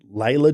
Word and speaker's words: Leila: Is it Leila George or Yeah, I think it's Laya George.